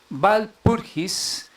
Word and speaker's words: Walpurgis: En la noche del 30 de abril, en la festividad de Walpurgis, la W en alemán pues se pronuncia como una V. Walpurgis, celebrada en grandes regiones